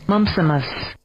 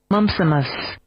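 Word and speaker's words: mumpsimus: m p s i m u s mumsimus mumsimus mumsimus mumsimus is your word of the day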